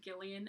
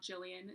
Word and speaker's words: Gillian: places by Gillian Flynn apparently her name is pronounced Gillian and not Gillian so if I've ever mispronounced